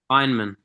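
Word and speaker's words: Feynman: Is that I think it's called a Fineman technique. Yeah, that's what I was going to say. I think if you're curious, you can search up, wait, how do you pronounce it, Ben? Fineman.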